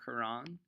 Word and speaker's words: Quran: you wanna spell it it's the Qur aan or the kor aan it's pronounced the same Quran you are a Muslim